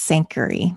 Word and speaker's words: Sankary: My last name is pronounced Sankary, just FYI.